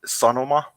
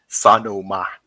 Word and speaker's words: Sanoma: But yeah, so the Finnish press landscape, the 2 biggest media houses are Sanoma and Alma Media, or if I were to pronounce in an American accent, Sanoma and Alma Media.